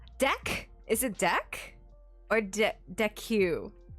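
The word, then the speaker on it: deque: So it's pronounced deck.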